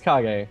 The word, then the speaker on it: Kage: that's how it's pronounced it's spelled cage but i think it's kage no you're probably right